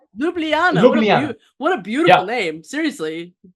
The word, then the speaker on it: Ljubljana: Oh yeah, Ljubljana. Ljubljana.